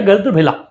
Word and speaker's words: गर्दभिल: गद्रभिला गर्द गर्दभिल या गर्दभिला नाम का एक गर्दभिल ही बेसिकली जनरली प्रोनाउंस किया जाएगा।